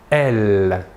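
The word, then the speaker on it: elles: troisème personne du pluriel est elle même chose que pour le masculin la S finale ne se prononce pas voilà pour les pronoms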